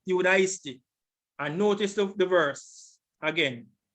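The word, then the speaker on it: Ἰουδαϊστί: Transliteration, Iudaisti, sounds like Judah, Iudaisti.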